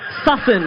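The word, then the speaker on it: Sussan: It's pronounced Susan Sussen.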